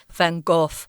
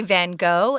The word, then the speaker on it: van Gogh: Gogh or Gogh yeah if you're in his own native country you would actually say fun golf but Americans say van Gogh and we're going with